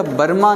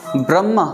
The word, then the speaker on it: ब्रह्मा: गुर ईश्वर, अच्छा बर्मा ना ब्रह्मा इहो लफ़्ज़ उच्चारण थींदो।